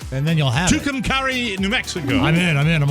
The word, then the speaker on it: Tucumcari: Tucumcari, New Mexico. Did I say it right? I believe so. Say it with meaning, though, and then you'll have it. Tucumcari, New Mexico.